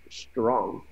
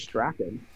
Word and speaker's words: Strachan: It's pronounced Strong. Really? I thought from watching the highlights, because I didn't watch the game. I was at the track. But watching the highlights, and every time he made catches, it was Michael Strong. I thought it was Strachan.